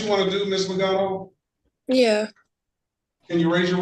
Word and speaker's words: Legato: I think I'm pronouncing it wrong. It's Legato.